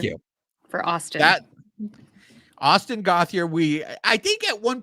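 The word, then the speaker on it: Gauthier: running blender you tell me so the correct pronunciation is oh okay so it is all right you say it uh it's gothier yes thank you for Austin that Austin gothier we I think at one point we did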